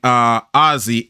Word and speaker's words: ASEA: the RC4, that was built by Ozzy, ASEA. That's how Paul Reistrup pronounces it.